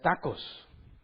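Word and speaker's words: τάχος: demora en el original La palabra es tacos pero se escribe tachos verdad tacos y se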